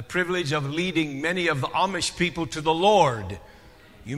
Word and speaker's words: Amish: know that I'm not a mish someone asked me that already but I'm not a mish that's how you say it here a mish we say Amish on our side but are not